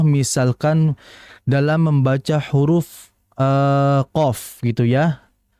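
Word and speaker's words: ق: Contoh misalkan dalam membaca huruf ee qof gitu ya. Qof itu kan dibaca qo seperti itu, tidak dibaca qu.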